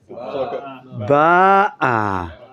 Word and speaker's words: ba'a: Poor aleph doesn't get any expression. Ba. No, I want a better answer. Ba'a. Ba'a. Now, if you were in a yekeshul and you had some tomatoes here, and you didn't pronounce properly ba'a, which means she came.